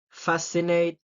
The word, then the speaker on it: fascinate: is the muscles scissors fascinate scenar and scenario see I'm not pronouncing the the say word because if I pronounce it I it will be like mustle sissor Fascinate and scenario so it will sound